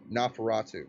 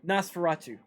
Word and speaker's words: Nosferatu: pronounce it the uh no ferratu nosferatu there we go the nosferatu if you